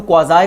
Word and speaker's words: quasi: Now we come on to quasi contracts. Quasi contract or quasi contract, pronunciation can be done in both way.